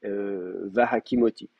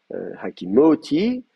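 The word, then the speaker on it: וַהֲקִימֹתִי: Ce qui se passe, c'est que l'accent, il est sur le ti, vous voyez bien, on dit pas hakimoti, mais on a va hakimoti. L'accent est descendu parce qu'on est au vécatal.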